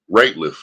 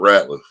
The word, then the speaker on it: Rateliff: Rateliff, not Ratliff.